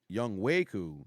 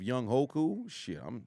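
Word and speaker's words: Younghoe Koo: say a few things it's pronounced um young way cool young waku young waku instead of young Hoku I'm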